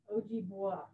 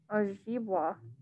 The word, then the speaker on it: Ojibwa: Ojibwa. Yeah, Ojibwa.